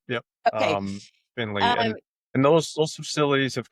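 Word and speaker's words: Findlay: Is it Finley? I don't even know that. It's Finley. Yep. Yep. Um Finley.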